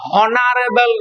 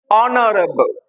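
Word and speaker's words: honourable: ও ইউ আর এবি এল ই অনারেবল ম্যান অনারেবল উচ্চারণটা হনারেবল নয় অনারেবল তাহলে তখন কিন্তু আমাকে এখানে লিখতে হবে কি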